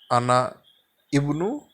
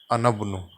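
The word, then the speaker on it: أنا ابن: So this Hamza will be elided, and instead of pronouncing it as Ana Ibnu, it shall be read as Anabnu.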